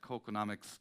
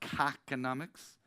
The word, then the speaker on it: KÅKÅnomics: So I come from Kilkenomics, and I'm delighted to be at KÅKÅnomics. It's easy to remember. I also know that it's important, that pronunciation. It's not KÄKономicS.